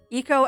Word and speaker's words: Eco: Echo. I think it's pronounced Eco, because Echo is a dolphin.